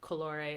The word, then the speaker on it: colore: few special cases so c c before a o u or any consonant is like a k so once again like colore it's Porto it said like a k c before I or